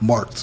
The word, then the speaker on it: Martk'd: Marked, as in like you marked a great test.